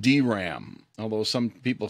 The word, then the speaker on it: DRAM: is usually pronounced sram and this is usually pronounced dram although some people say dram static rams are built using latches and gates